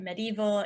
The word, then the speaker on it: medieval: the medieval time so to remember this pronunciation you could say mad evil kings ruled during the medieval times mad evil kings ruled